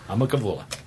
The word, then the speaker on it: Humma Kavula: That's how you pronounce that word. I'm a Kavula.